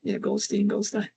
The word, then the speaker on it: Goldstein: I'm giving that the German pronunciation, Goldstein.